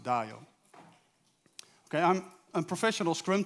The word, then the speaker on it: Dajo: So, but this is my name. It's pronounced Dajo.